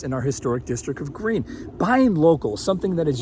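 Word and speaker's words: Gruene: It's pronounced green, like the color.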